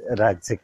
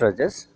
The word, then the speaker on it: राजस: Next in the same line is rajasic प्रकृति या राजस. राजस को कई बार लोग also मतलब pronounce करते हैं as rajas. It is not rajas, it is rajas.